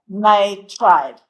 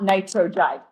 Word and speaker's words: nitride: Nitrogen, nitride. Not nitrogide.